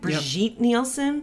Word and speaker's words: Brigitte Nielsen: Brigitte Nielsen?